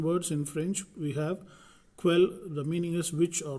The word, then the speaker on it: quel: Same thing, quell, which or what, masculine plural. Quell, which or what, feminine singular. Then quell, which or what, feminine plural. Okay, so the pronunciation is same but only the spelling changes.